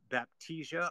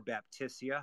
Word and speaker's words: Baptisia: for perennials we have baptisia or baptisia however you choose to pronounce it Australis there's other